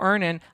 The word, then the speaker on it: Earnin: when I think about earning I think about financial stability security I love security it gives me a lot of Peace of Mind download earnin today it's spelled e a r n i n in the Google Play